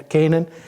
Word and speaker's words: Canaan: Yeah, Canaan.